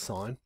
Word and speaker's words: sin: first three letters so we just write sin but it's pronounced sign and next to your